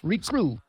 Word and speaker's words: recruit: that before either collect the letters of the word recruit in the proper order remember the eye is silent yeah and guess that makes